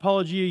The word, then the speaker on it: Paulogia: It's pronounced Paulogia usually.